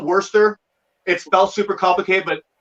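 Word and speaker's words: Worcester: go along the i so worster is how you pronounce it i used to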